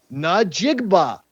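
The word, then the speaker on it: Njigba: So, you break it into three syllables. Najigba. It's not hard word to actually say.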